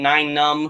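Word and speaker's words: Nien Nunb: don't care if you pronounce nyan nubs name 9 num which is actually how it's supposed to be pronounced I'm just used to pronouncing it yet nub um but yeah I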